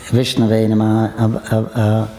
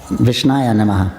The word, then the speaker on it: Vishnave Namaha: Then he quoted something how there's different you can pronounce Vishnave Namaha, Vishnave Namaha. So when you're worshiping Vishnu, Я сказала, когда ты поклоняешься Вишну, то можешь произносить это по-разному. Вишнаве намаха, Вишная намаха. but some say Vishnaya Namaha, Но некоторые говорят Вишная намаха, Vishnave Namaha. Вишнаве намаха. So he said although it's grammatically speaking it's wrong, Несмотря на то, что